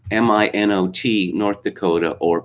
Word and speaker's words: Minot: and i was curious about this city of mino or so i called it because it's french word pronounced in the french way uh no no it is not they pronounce it minot which was uh took it took me aback